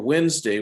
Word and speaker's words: Wednesday: spelled inter rest or wednesday which is spelled wed nest day okay so we don't say all the letters we make up our